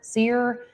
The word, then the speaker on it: Cyr: That's Tim Sear. We apologize. I've never seen a name spelled like that before. It's CYR.